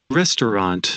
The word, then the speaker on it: restaurant: pronounced in English yes look we have two four six eight ten letters ten letters and we only have two four six eight phonetic symbols so listen restaurant restaurant okay then one